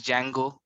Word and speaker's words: Django: that the name is django the d is silent so same goes for